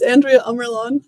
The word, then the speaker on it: Andrea Ammerlaan: how it's pronounced uh are you asking how my name is pronounced yeah yeah we know how it speak native it's uh my name is Andrea amlon I hope that's what